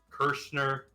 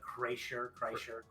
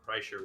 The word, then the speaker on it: Kreischer: It's Bert Kirschner. I guess that's how that's pronounced. There's no N in that. What? You're right. There's not. I'm gonna guess it's like Kreischer. Kreischer, whatever.